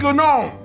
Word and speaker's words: gnome: And you're a disgusting gnome! The G is silent and you know it.